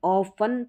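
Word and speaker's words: often: लेकिन आपने ऑफन पढ़ा होगा ज्यादातर। इसलिए टी साइलेंट है।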